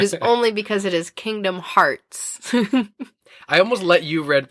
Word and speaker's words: Kingdom Hearts: its new line of Kingdom of Hearts Pops featuring Pete, Donald, Goofy, and Mickey Mouse. I think you pronounced that wrong. It's Kingdom Hearts, because that other thing doesn't exist.